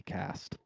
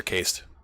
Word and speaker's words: caste: There's the priestly caste. Is it cast or cased? Caste. Sorry, you have to pick one.